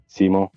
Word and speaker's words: Simo: my real name is Simo. Uh-huh. That's how you say it in Finnish. Mm. But not everyone can say that, so it sounds like Zemo.